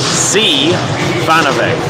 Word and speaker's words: Zvanovic: He told me the other day how to pronounce it, and he said everyone gets it wrong. It's like Zvanovic.